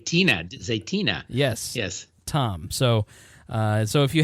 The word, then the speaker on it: Zaytinya: Zaytina.